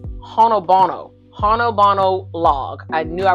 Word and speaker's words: Honobono: It's Honobono.